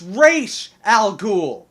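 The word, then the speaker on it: Ra's al Ghul: our time but no you are not pronouncing it correctly it's re Al gou it probably wouldn't bother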